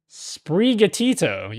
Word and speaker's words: Sprigatito: Sprigatito, yeah.